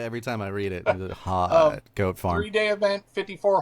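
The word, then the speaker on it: Hut: to think of it said like hot you know like Paris Hilton like yeah like that's hot yeah yeah probably something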